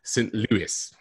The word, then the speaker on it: St. Louis: home city of, and I have to be very careful here, British people always pronounce it wrong, St. Louis.